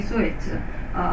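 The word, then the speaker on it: Sōetsu: He's called Yanagi Muneyoshi in Korea, but in Japan he's called Yanagi Suetsu, following Chinese pronunciation.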